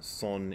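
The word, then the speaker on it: Seon: a single Chinese character, which is pronounced Zen in Japan, Soen in Korea, and Chan in Mandarin Chinese.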